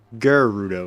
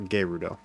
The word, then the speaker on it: Gerudo: it right deku and gerudo i always say deku and gerudo garrudo is what i say not gayrudo it's deku deku deku